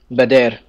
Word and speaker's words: Badr: This is after, how do you pronounce it? The Battle of Badr? Badr.